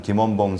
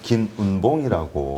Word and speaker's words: 김원봉: 그래서 저희가 최근에 그 약산 김원봉 선생님을 김운봉이라고 김운복 뭐 이렇게 발음하고요.